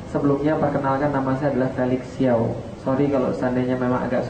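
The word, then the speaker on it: Felix Siauw: Sebelumnya perkenalkan, nama saya adalah Felix Xiao. Sorry kalau seandainya memang agak sulit diucapkan, memang bukan disetting untuk lidah orang Indonesia.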